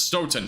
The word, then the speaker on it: Stoughton: Okay, so it's Stoughton. Somebody else said it was Stoughton. So Stoughton. Okay. Thank you, Connie.